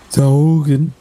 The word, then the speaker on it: Togen: Okay, 1 vial of Togen blood. What blood? Togen. That's how you pronounce it.